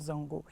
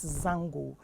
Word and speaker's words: Zongo: adiza you keep saying zongo but it's not zongu the actual pronunciation is zango but then you know just like my name